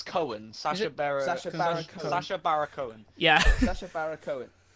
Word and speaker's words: Cohen: sasha baron hogg yeah uh sasha barron it's cohen sacha barrow sasha barack owen um anyway he